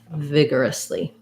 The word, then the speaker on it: vigorously: and a lee so thinking about it like vig er us vigorously um yeah good word